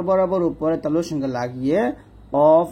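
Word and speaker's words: ق: এটা মোটা হবে, একটা পাল্টা আওয়াজ হবে অফ, আর এটা স্বাভাবিক ভাবে আমরা উচ্চারণ করব কাফ, এরকম ভাবে।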